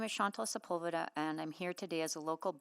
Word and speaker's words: Sepulveda: My name is Chantal Sepulveda, and I'm here today as a local business